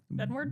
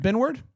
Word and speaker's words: Benward: Benward. Benward.